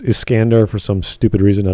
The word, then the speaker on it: Iskandar: from fate zero although in the japanese vernacular i think it's pronounced iskandar for some stupid reason